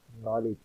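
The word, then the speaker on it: knowledge: آر۔ نفسیات، physiology. معلومات، نالج۔ عزت، آنر۔ پھیپھڑے، وہ پھیپھڑوں کی سوجن، نمونیا۔ لکھنا، رائٹ۔ معلومات، نالج۔ آپ نے دیکھا کہ ان لفظوں کے پہلے حرف کا تلفظ نہیں ہوتا۔ اب ان لفظوں کا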